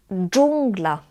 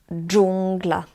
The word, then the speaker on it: dżungla: It's similar to English J, like in the word jungle, but again in Polish it's harder. So jungle in Polish is dżungla, dżungla.